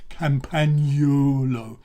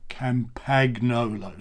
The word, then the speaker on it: Campagnolo: your Pavarotti or somebody and say Campagnolo in the same way as you would say pasta. It's not pasta, it's pasta, and it's not Campagnolo, it's not panettone. Don't say panettone, you say panettone, and you say Campagnolo.